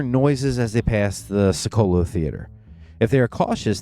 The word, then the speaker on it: Piccolo: Piccolo I always called it Selco when I was younger. I don't know why. I'm Italian and I still mispronounced it. It's Piccolo. Piccolo.